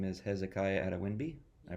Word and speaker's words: Adewinbi: friends in the department his name is Hezekiah ATA winby I pronounce that correctly yeah that's good very good